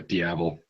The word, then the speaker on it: Diavel: Yeah, Diavel.